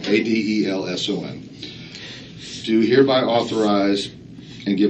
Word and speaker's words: Adelson: Actually, it's spelled right. I said it wrong. Adelson.